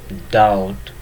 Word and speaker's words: doubt: Next B, comb, tone, plum, doubt, debt.